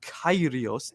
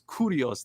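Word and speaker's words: κύριος: pisses me off it's not kairios it's I mean Lord It's curios that means Lord You've oh my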